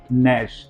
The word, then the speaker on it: gnash: Next, नैश, उसके बाद है नैश, GNASH, जी के बाद एन है, जी का प्रोनाउंसिएशन नहीं किया है, नैश।